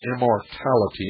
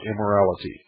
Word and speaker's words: immortality: will of the Gods I mispronounce the name of the child it's immortality not immorality immortality ssy replied that with